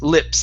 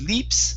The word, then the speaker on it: lips: And your last one is a short I as well, with lips instead of leaps, lips.